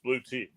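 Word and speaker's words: Bluetti: awesome it's a blue blue te that's the way it's supposed to be pronounced blue te okay see the blue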